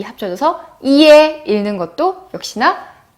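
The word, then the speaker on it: ie: I와 E가 합쳐졌어요. 어떻게 읽죠? 그죠? 이에 라고 읽어요. 어렵지 않죠? 네, 보시면 이렇게 뒤에 이가 붙으면 이게 결합이 됐을 경우에는 모두 다 어가 아니라 에로 읽는다는 것 여러분께서 이제 기억 확실하게 되셨죠? 그래서 이에라고 읽습니다.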